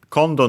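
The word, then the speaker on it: 今度: In this case, accent on the first syllable. And yeah, kondo, so high, low, low.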